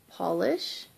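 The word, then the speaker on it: Pahlish: And it is by Polish, which is, of course, it's spelled P-A-H-L-I-S-H.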